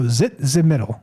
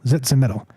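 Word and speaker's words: Tzitzimitl: So, zitz middle. Zitz middle.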